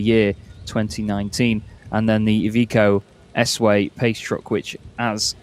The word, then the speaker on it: Iveco: which will be the evico sway I've been saying iveco because uh it's uh it's pronounced slightly differently in English from what I understood but either way this